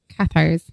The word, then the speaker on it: Cathars: It's Cathars, right? Catars. Yeah. Not Qar. The country. This is spelled with C, not Q. T in the middle.